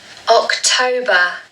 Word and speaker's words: October: October, October, October. So again, like with September, we need to stress the second syllable.